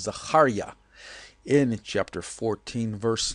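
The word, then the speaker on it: זכריה: of the prophet Zechariah, which I guess you would say Zechariah in English, but the real pronunciation of his name, as he was called, is Zechariah.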